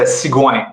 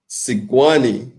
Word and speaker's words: Sigouin: It's a Sigouin. It's French. Sigouin.